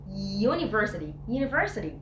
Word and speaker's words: university: عشان خاطر اليو هنا مش بتتنطق which is the vowel، لكن بنطقها يا university يا sound.